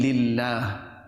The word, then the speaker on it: lillah: Yes, if it is preceded by a kasra, then it could be lillah.